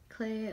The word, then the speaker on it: Clé: versions of straight kids clay Elementor is how you pronounce it throwing box today I've